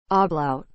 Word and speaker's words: ablaut: sang sung song about is spelled a b l a u t ah blout